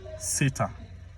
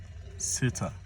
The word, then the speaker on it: SATA: is still in use call this one s-e-t-a SATA or SATA whichever way you'd like to pronounce it but it's s e t a sitter SATA anyhow you'd like